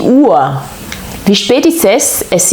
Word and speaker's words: Uhr: On ne dit pas die Uhr, oui, mais die Uhr.